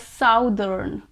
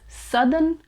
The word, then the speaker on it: southern: southern now i know most people confuse this word with south some people pronounce it as southern southern but that's a wrong pronunciation we can either pronounce it as southern or southern that slide r sound at the end is also acceptable so it is either